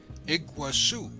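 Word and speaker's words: Iguaçu: to Brazil's par nasel iguasu slightly different pronunciation and Portuguese than the Spanish Iguazu the border crossing was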